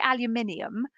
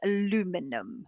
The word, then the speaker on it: aluminium: on developer yeah for for aluminium or aluminum is how do you say we say aluminium the US says aluminum that's right isn't it aluminium and aluminum obviously we're right moving